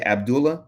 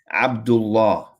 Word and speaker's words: Abdullah: You know, you say Abdullah. Well, it's not pronounced correctly. It's Abdullah. Okay. If you put the name of Allah right after, it'll be Abdullah.